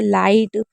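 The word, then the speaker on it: light: कभी भी अगर आपको लास्ट में आइट लिखना हो, और आइट में याद रखिएगा GH हमेशा साइलेंट रहता है, तो आइट के ज़्यादातर GH वाले आते हैं, जैसे लाइट, माइट, नाइट हो गया,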